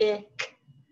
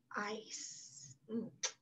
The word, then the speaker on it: ice: That E kicks the I and makes it say its name. And then it's a soft C. So it's not ick, not ike. It's ice.